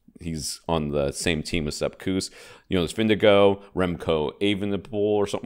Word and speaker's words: Vingegaard: Like, Jonas Vingegaard, I mean, he's got two A's back-to-back in his name. Uh-huh. And it ends with a R-D, and it's Vindigo. That's how you say his name.